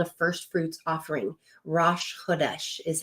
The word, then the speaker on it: Rosh Chodesh: Rosh Chodesh is how you say that.